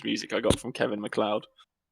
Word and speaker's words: MacLeod: I got from Kevin MacLeod I'm glad you pronounce his name properly well not muckley odd yeah like you're idiots but that's his name I always know he's mccloyd hello and welcome